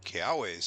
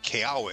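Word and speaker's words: Kiawe: It should actually be a V sound. But the anime confirms that Keawe is how they want it to be pronounced.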